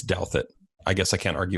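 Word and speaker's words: Douthat: but here's the thing I thought his name was do that I've been pronouncing it like that for years and I feel like a total idiot I heard him say it it's doubt that I guess I can't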